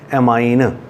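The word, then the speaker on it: ammine: Tetra अमाइन, इनू अमाइन ही pronounce करना AMMIN, अमाइन।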